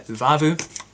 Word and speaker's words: Uvavu: we get on so this one is the uvavu did i pronounce that right yeah uvavu a black sour double ipa with raspberry vanilla